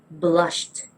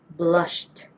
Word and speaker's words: blushed: Instead, we say blushed, blushed.